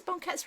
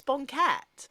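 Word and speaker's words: banquette: you can yeah but how can you mispronounce Bonet b a n q u e t t e that oh a banket it's a Bonet is it B yeah it's definitely a Bonet um Amy maybe the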